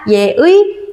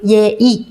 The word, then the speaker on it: 예의: 그래서 발음이 두 개가 허용됩니다. 예의, 예이 모두 맞습니다.